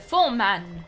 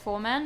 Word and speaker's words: Foreman: That's why they call me the foam man. It's actually pronounced foreman, but my way is funnier.